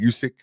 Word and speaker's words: Usyk: Usyk. All right. It's pronounced Usyk.